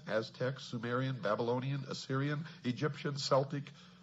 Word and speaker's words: Celtic: Examples are ancient Mexican, Mayan, Inca, Aztec, Sumerian, Babylonian, Assyrian, Egyptian, Celtic, or Celtic as some pronounce it, Aryan, etc.